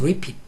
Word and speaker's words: Lippett: 자, 발음이 Mrs. Repeat. repeat이야, 발음이 repeat. repeat. 이렇게 발음이 들렸죠? 발음 들린 대로 쓴 거야.